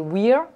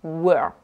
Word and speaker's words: were: nombre de mots et donc voilà ne pas prononcer weir et ne pas non plus prononcée ou r